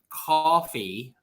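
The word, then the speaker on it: Ko-fi: started a kofi or as i understand it's pronounced coffee oh whatever i look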